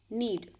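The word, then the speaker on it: knead: slice word use करेंगे नीड नीड के एन ई एडी इसमें के साइलेंट है नीट बोलेंगे इसका हिंदी मतलब होता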